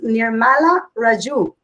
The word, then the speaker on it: Nirmala Raju: nila and your the real name is nirmala raju right well done to you for pronouncing that i was i was